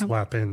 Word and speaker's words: Lapin: some co-branded in-person Farms couldn't even pronounce Greg's last name correctly there's no l at the in the middle it's lap in that Lapin training bringing